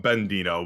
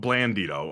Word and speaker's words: Blandino: So I'm saying it correctly because I was calling Bandino but Blandino.